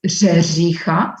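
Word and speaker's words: řeřicha: What is very difficult to pronounce is kres. It's RERECHA. It's rzerzicha, so it's very difficult to pronounce.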